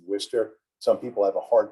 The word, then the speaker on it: Worcester: polytechnic at the time and amy great job pronouncing worcester some people have a hard time pronouncing uh